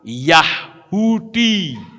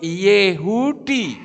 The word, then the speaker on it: Yehudi: Kalau misalnya di depan itu ternyata ada Yah, itu mereka membacanya Y. Seperti orang bilang Yahudi. Itu yang betul Yehudi, saudara.